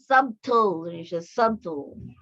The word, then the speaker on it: subtle: Subtle, but subtly. Okay, it's a silent T. Okay, subtle. Pag TLE siya, subtle. But pag kuan na siya, mag-add na siya LY, subtly. Okay, mas silent T na siya.